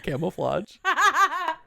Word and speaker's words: camouflage: Because I can tell you right now there's no D in camouflage. It does it does not rhyme with with dodge.